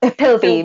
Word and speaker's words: Pilbeam: With me tonight is the gorgeous Laura Pilbeam. Have I pronounced your name correctly, Laura? Pilbeam.